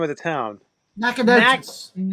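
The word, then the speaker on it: Nacogdoches: Nackadocious. Nackadocious. Nackadocious. How do you spell that?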